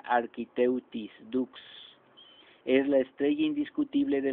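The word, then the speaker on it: Architeuthis dux: científico es architeuthis books se pronuncia architect y books es la estrella indiscutible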